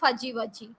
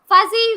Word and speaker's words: fuzzy: way for g g it is not fujiwaji it is fuzzy z z sound should come here yeah be mindful when you are practicing practicing this tongue twisters fuzzy wuzzy fuzzy wazzy was